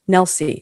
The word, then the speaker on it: Nelsie: It's phonetic. Rhymes with Elsie. Nelsie.